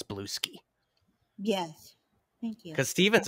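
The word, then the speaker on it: Bluesky: knows how to pronounce Blueski. Yes. Thank you. Because Steven's over here every week, he's like, Blue Sky, and I'm like, dude, it's all one word. It's Blueski.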